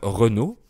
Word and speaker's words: Renaud: Et l’un des symboles des jeunes parisiens de cette époque est le chanteur Renaud. Oui, c’est la même prononciation que la marque de voiture Renault.